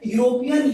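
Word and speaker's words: European: यूज करेंगे, बट नो, यूरोपियन यस से start हुआ, मैंने बताया कि आपको इंग्लिश के शब्दों से मतलब नहीं, उच्चारण करेंगे, और उच्चारण के बाद इसका पहला अक्षर जो आएगा, पहला वर्ण जो आएगा, उसके अकॉर्डिंग आप अ या एन का यूज करेंगे। तो यूरोपियन में यह आया, यह कॉन्सोनेंट है तो किसका यूज होगा,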